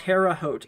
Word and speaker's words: Terre Haute: that out sorry about that goblin says it's pronounced terre haute okay sorry about that killing time says road